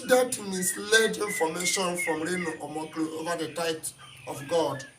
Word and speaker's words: Omokri: Omokri, I don't know how to pronounce, but I know Reno is there. Omokri, yes, it's Omokri.